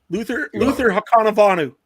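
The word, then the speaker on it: Luther Hakunavanhu: Luther Hakanavanu. There we go. I think that's the first time Adam's ever pronounced it right on the podcast.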